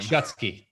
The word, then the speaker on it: Schutsky: pronounce your last name gutski like two like keywords shut and ski no problem welcome to